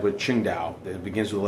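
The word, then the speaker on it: Tsingtao: that is that W silent just like with Ching da it begins with the letter t but Ching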